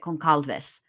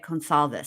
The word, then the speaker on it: Goncalves: The reason I can't say it is because I want to pronounce it concalves. Gonalves, but it's gonal if they say it consolves.